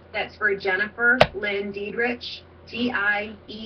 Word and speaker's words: Diedriche: That's for Jennifer Lynn Diedriche, Diedriche. Yeah, I spelled it out phonetically, Diedriche.